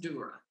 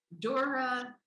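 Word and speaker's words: Dürer: dots above it r e r but it's pronounced dura uh dora oh yes there's dura duron was a very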